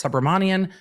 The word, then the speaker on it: Subramanian: new judge is aroon I think the proper pronunciation of the last name is subramanian so we're going to go with that the judge said this